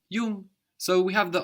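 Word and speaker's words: jung: brother is young it's like the English n g actually so you don't really hear a g here it's more nasal Yung y good my is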